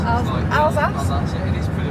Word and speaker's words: Alsace: Is that actually how you pronounce it, Alsace? It's the Alsace. Alsace?